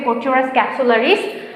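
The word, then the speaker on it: Corchorus capsularis: যেমন ধান, দেখো আমি জাস্ট স্পেলিংটা ইয়েটা বলে দিই, উচ্চারণটা বলে দিই, প্রোনাউন্সিয়েশন। ওরাইজা sativa, ওরাইজা sativa. পাট হচ্ছে কোচোরাস ক্যাপসুলারিস।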